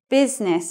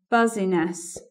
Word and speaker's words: business: And looking at the last word in the list here, business is that word. But sometimes people are confused by the I in there.